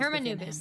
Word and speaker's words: Hermanubis: Oh, I don't know how to say it. I know who you mean. General Mahamatra Sino. The spirit of Hermenubis dwells. Hermenubis. That's how you say it. That makes more sense.